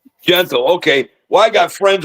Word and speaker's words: Gentle: So we have with us Gentle or Gentile? How do you say it? Gentle. Yep. Gentle.